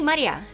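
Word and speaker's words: 真里亞: is written Maria oh this is literally pronounced Maria because this is straight away Ma and this is like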